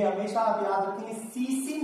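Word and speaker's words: tsetse: Exam का बहुत ही favourite and ये हमेशा आप याद रखेंगे, सीसी मक्खी है, एक्चुअली इसकी स्पेलिंग जो होती है TSE, एक्चुअली जैपनीज नेम है और इसीलिए टी यहां पर साइलेंट है।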